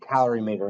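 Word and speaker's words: calorimeter: a cimeter calorie meter I've always pronounced it calorie meter in class because we have color meters and calorie meters color meters has to do with light measuring and calorie meters has to do with heat measuring there's two types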